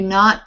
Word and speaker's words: know: We do not pronounce the K at the beginning of no. And that word is pronounced the same way as this, no.